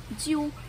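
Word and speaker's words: 灸: A parte de cima é um caractere que se escreve Jiu, que também, né, tem este som Jiu, né?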